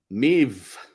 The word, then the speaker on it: Maeve: Maeve, that rhymes with shave, is here as well.